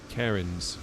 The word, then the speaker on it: Cairns: Cairns, pronounced.